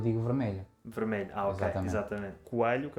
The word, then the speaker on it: Coelho: Coelho, que é o meu apelido.